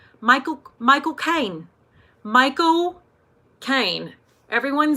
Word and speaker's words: Michael Caine: Michael Caine.